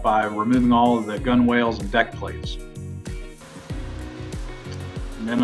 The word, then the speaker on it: gunwale: different sides of the gunnels in, or gunwales, I think is how it's spelled, but it's a gunnel.